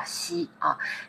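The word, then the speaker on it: 兮: he puesto en rojo, es Xi, se pronuncia Xi, que es una de las características que se destaca en esta obra.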